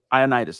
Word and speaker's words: Ioannidis: How do you pronounce that cat's name, dude? Matt Ioannidis. Ioannidis, that's right.